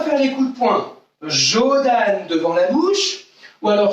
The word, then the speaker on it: Jodan: Devant la bouche, on dit Jodan. Les parents, si vous êtes à côté, écoutez bien comment vont dire vos enfants. Ils doivent dire comme ça, Jodan. D'accord? Ça s'écrit J-O-D-A-N.